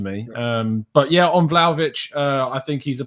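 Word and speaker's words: Vlahović: little sense to me um but yeah on vladovich uh i think he's a player that first of all i've learned to pronounce correctly it's not vlog of it just not vlogging what's the correct pronunciation i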